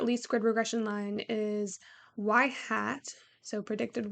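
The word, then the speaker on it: ŷ: is the slope and this is pronounced as y hat or as predicted y um and then yeah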